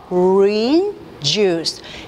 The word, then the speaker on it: orange juice: 오렌지 주스도 마찬가지로 R을 굴리고 그런 문제가 아니라 orange juice. 3개로 나뉘어서 발음을 하시고 앞에 액센트 부분을 강조를 하셔야 orange juice.